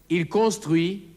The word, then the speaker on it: construit: Il réfléchit, denkt nach, il construit, baut. Das T am Wortende ist stumm.